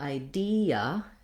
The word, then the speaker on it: idea: But in something like idea, the E says E, and the A says So we would have an E and a schwa in idea. So they each have their own syllable.